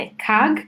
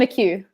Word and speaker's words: McHugh: live tonight with Liam a cog am i pronouncing your name correctly laughs it's Liam McHugh okay but yeah